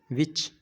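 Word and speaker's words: watch: पर क्या हो गया विच वाच यानी कि देखना अब वो कोई वाट तो नहीं पड़ता टी तो नहीं ना पड़ता वाटस नहीं क्योंकि टी साइलेंट है इसे काट दिया साइलेंट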